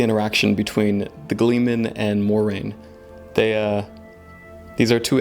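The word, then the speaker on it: Moiraine: will live stream that it's pronounced more rain i guess you might see me say morianne a couple times in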